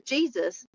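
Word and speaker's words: Jesús: said, "Hey, this is Jesus," but he's Hispanic, so it's pronounced Jesus.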